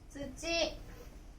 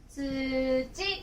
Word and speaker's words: 土: これは、土とか、土曜日の土と読みます。